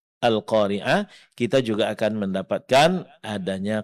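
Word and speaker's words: القارعة: Jangan lupa berhenti pada huruf ta marbutah. Ganti tam marbutahnya menjadi huruf ha sukun. Nah, huruf ha dari segi sifatnya dia termasuk dalam kategori huruf hamas. Berarti dalam pengucapannya mesti keluar angin atau napas atau suara seperti bisikan. Ah.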